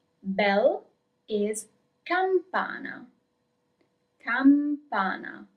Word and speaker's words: campana: Bell is campana. Campana. Do not forget the M.